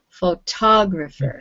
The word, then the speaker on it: photographer: calling it the third so it's the second syllable photographer good all right and um